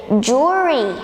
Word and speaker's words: jewelry: Valerie not to worry it's Jori Jori it has two syllable for example her jewelry